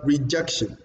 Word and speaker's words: rejection: And then you look at the word rejection. Rejection. Rejection. You see, jerk is stressed on that word at the single or the second syllable.